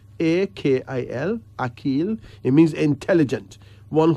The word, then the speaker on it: Akil: Akil. A-K-I-L.